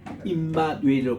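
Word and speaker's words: עִמָּנוּאֵל: 엘 하나님이 우리와 함께 계시다 할 때는 임마누엘로 그렇게 발음해요.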